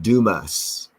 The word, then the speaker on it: Dumas: I did say dumbass but they call it Dumas Arkansas but it's spelled out dumbass Arkansas and from The Limited